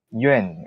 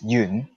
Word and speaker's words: Yoon: yoon from hong kong most people don't know how to pronounce my surname correctly because when when people usually talk about hong kong it usually relates to china and they usually pronounce my name in the mandarin form like yuen and i don't mind but if people would like to use my real pronunciation which is yoon it would be pretty